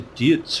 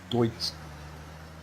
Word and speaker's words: Deutz: I actually found out that you don't pronounce it like I've been pronouncing it, guys. I've been calling it a Deutz Fahr, you know. So I believe the correct pronunciation is Deutz Fahr. So sorry guys for all the people who is laughing at me and not helping me. So yes, I found out that you actually pronounce it Deutsch.